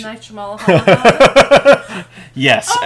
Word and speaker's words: Shyamalan: Night Shyamalan.